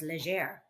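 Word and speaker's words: Léger: Well, my understanding of the pronunciation was leger. There's an accent over the the G.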